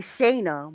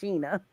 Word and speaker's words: Shana: Shana, which is SHANAGOURDINE, because my name is spelled like Shayna, but it is Yeah. pronounced Sheena.